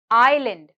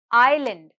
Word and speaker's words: island: is silent next word island island island here the letter s is silent next word column column